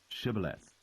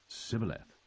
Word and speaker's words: Shibboleth: Then said they unto him, Say now, Shibboleth. And he said, Sibboleth, for he could not frame to pronounce it right.